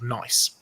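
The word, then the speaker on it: gneiss: or shales is is a rock called nice um spelled with G but um in the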